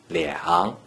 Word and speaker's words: 两: According to the rule that you just learned, a single digit 2 without any other digits in the third green circle is pronounced 两.